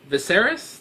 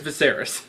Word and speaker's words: Viserys: it was um when Viserys that's I'm pretty sure how you pronounce the brother's name yeah I'm pretty sure it's Viserys the Daenerys is brother when he was